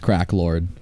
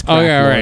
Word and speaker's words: Krexlorks: Just making sure you know that is pronounced Crack Lord. I was going to try and avoid it for stream's sake, but We've said it twice already. It's Crack Lord.